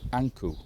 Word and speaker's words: ankh: And we think it is Ipi or Apa, Anku. That is how Ankh is pronounced in ancient Egyptian.